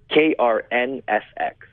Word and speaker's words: KRNFX: name do you go by as the beatbox KR NSX that's what you that's that's how it's pronounced that's how it's pronounced really what does